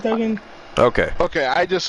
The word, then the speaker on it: Duggan: Yeah, it's Duggan.